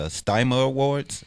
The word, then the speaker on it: Dymo Awards: the what is it I want to pronounce it wrong the Dymo Awards are you guys still do you are right on the money do you know you're the only one who pronounced that correctly it's actually my name